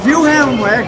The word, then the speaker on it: Wilhelm: Em português é Wilhelm, pode ser Guilherme, e o estou literal mesmo, do jeito que eu estou falando aí.